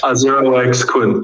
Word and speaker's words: 0x Kun: Today I'm here with, I guess you would say 0x Kun. Is that how you say it? Is that correct? 0x Kun. Yeah, Kun. Or just Kun for short.